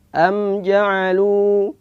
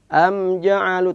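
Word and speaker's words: أم جعلوا: Ada beberapa pembacaan yang salah, yaitu mim dibaca dengan ada memantul, ada qalqalah, sehingga dia bacanya am ja'alu, ini salah. Am harus jelas. Am ja'alu tanpa ada pantulan. Am ja'alu. Tapi walaupun jelas tetap perlu kita lentur. Am ja'alu, bukan am ja'alu, tapi am ja'alu.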